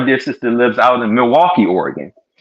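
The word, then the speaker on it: Milwaukie: here I was like Milwaukee but it's in the state of Oregon it's a city called Milwaukee not spelled the same way but anyway so getting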